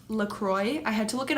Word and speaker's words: LaCroix: that I'm actually drinking right now, and it's pronounced LaCroix. I had to look it up because I didn't know that it was pronounced LaCroix, but this is the cran raspberry flavored.